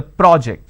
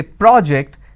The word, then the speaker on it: project: i'm using per o so when i have project it's an aw sound when i have project i have an o sound but the